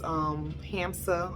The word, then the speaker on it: Hamsa: So these are pronounced Hamsa, and some people say it protects against the evil eye, or it's Hamsa.